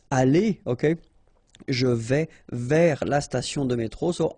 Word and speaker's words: vers: Vers, so you don't pronounce the final S, means towards or about.